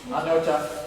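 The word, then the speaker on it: Aniocha: So how do you pronounce it? Anyocha.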